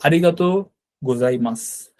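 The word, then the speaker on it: ありがとうございます: আবার ওই যে মাসু কিন্তু হবে না, মাস আর কি। হ্যাঁ, আমরা বলেছিলাম যে লাস্টের ইউটা সাইলেন্ট থাকবে। তো আরিগাতো গোজাই মাস, মূলত আরিগাতো মানে কিন্তু ধন্যবাদ।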